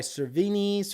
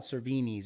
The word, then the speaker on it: Cervini's: are readily available by cervini's or vinnie cerveny you have to have to pronounce it a certain way it's not cervini's it's cervini uh or any other um